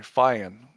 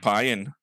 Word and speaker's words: Feijen: It's a it's Y like sound. it's a silent J, Steve. Feijen. No, well, it's a Y. Feijen. That's a Y. No, it isn't. It's F-E. Is it not F-E-I? Somebody Google it. I'm sure it's F-E-I-J. It is. Yeah, it is. F-E-I-J-E-N. Yeah, but it's not Feijen. It's just Feijen. Feijen. Yeah, no, it's not Payan. It's not P-A-Y-E-N.